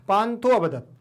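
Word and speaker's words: पान्थोऽवदत्: आ का उच्चारण कम होगा, बाहर नहीं निकलेगा, सुनाई नहीं देगा, लेकिन आपको महसूस जरूर करना है कि यहाँ आ है, पांथो अवदत्।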